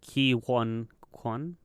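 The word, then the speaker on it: Ke Huy Quan: And Ki Hui. I can't say it. How do you say it? Ki Huan Kwan.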